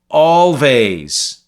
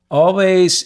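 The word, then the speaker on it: Alvvays: you and then finally always which I think it's how it's pronounced a-l-v-a-y-s their album Blue Rev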